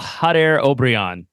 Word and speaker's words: Jader Obrian: you like to take a crack at the pronunciation of the new player's name I would go with a hot air obrion that'd be correct I believe so yeah I